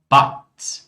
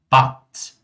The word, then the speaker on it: Bad: Palavras que terminam com um D, elas são pronunciadas como um T. Como, por exemplo, Grad, Bad, Kind, Wald, Land, Grund. Falem comigo mais uma vez. Grad, Bad, Kind, Wald, Land, Grund.